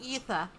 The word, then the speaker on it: aether: It's pronounced ether.